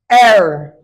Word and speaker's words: heir: Heir.